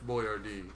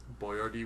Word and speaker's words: Boyardee: It's spelled B-O-Y-A-R-D-E because B-O-I-A-R-D-I he felt was too difficult for the average American to read and pronounce appropriately, and he wanted people to pronounce it That's just appropriately, so he ridiculous. spelled it out phonetically.